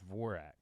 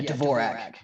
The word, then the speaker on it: Dvorak: Well, so is the D silent in your last name? No, no, you say it. Okay, okay. It's pronounced exactly like how it spells. Dvorak. Yeah, Dvorak.